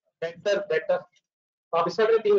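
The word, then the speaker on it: debtor: डेटर, इसमें B silent है, तीन तो दफा बोलते डेटर, डेटर, मैंने बोला आप ही बोलते हैं ये मिक्सर में आएगा लेकिन टाइटली साइलेंट है।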